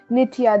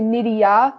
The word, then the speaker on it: Nitiya: name like some people instead of nitiya they say nidiya like they add a d into it and like sometimes it's